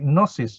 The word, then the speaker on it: gnosis: You get words like gnosis, G-N-O-S-I-S. Gnosis means knowledge, right? So this G-N comes from the same root here, and gnosis is the direct translation of jnana.